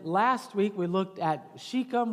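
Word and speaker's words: Shechem: Uh and then last week we looked at Shikum which is often pronounced sheckchum h and some of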